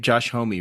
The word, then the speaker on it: Homme: You pronounce his name Josh Homme, right, Joseph?